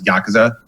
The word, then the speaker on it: Yakuza: And that's why you're generally going to hear it as Yakuza. Yeah. You barely even say the U.